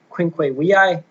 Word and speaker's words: Quinque Viae: So what specifically we're going to be reading is Thomas Aquinas's Quinque Viae, or if you want to pronounce it in the Latin way, Quinque Viae, which literally means the 5 ways to prove the existence of God.